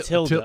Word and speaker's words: tilde: Yes, a tilde. Yeah, it does sound right. Who's that? That's the thing over the. Over the Oh, end. okay. A tilde? Not the movie Matilda, but a tilde over the It's a end.